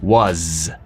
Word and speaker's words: was: Y se pronuncia como con una Z. Was.